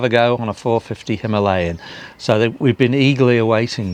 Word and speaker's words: Himalayan: What we were originally going to do was test a 410 Himalayan, or Himalayan, depends on how you want to pronounce it. I'll be pronouncing it Himalayan.